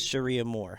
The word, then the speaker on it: Cherie Amour: It doesn't look like an idiot like me, so it is Cherie Amour, so go check them out.